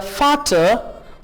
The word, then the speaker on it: Vater: V को F pronounce करेंगे. Ja, जी हाँ. Der Vater, the father von Erika und Otto, of Erika and Otto, यानी areca और auto के फादर. Ja, der Vater von Erika und Otto.